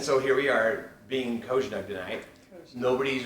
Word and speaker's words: COZSNUG: And so the official pronunciation of COZSNUG is COZSNUG. COZSNUG.